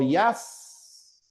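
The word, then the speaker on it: jazz: Otras palabras no adaptadas son palabras como piza, por ejemplo, o yaz. Y fíjense lo especial de la pronunciación, ¿no? Decimos y, pero lo escribimos con j, ¿no? Así. Ya, porque no es castellano.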